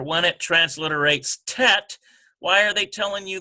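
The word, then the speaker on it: טית: So under this T with the letter, when it transliterates tet, why are they telling you this? Because that is going to compete with tav. See? And they both equal T sound, but you've got to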